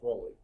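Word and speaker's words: Rolle: the world would roll I believe it's pronounced rolly okay uh test one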